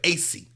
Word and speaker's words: Acie: It's actually ACIE is how it's spelled, AC. That's my middle name. My middle name is ACIE, AC.